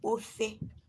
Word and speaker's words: ofe: In our dialect, soup is called ofe.